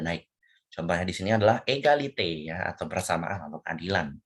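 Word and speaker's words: égalité: Contohnya di sini adalah egalite ya atau persamaan atau keadilan tuh. Makanya ya itu cara bacanya adalah egalite ya di sini egalite ya ini kalau misalnya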